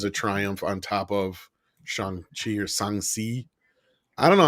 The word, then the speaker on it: Shang-Chi: It was like Shang-Chi. Yeah, I think that was it. Shang-Chi. That's how it's supposed to be pronounced.